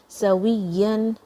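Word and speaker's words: سَوِيًّا: Sawiyan. Okay, so don't say it like a V, okay, it's different, wow is different, it comes from the lips only.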